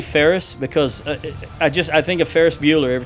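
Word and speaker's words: Faris: So, these these actual horse troops here are called uh F A R I S, which I pronounce as Ferris, but it's just too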